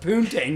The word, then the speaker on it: Tang: they they they're like I think it's pronounced pun Tang not pudding Tang it's supposed to be